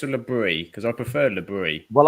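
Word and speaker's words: Le Bris: Because I prefer Lebris. Well, I'm calling him Lebris because he's French.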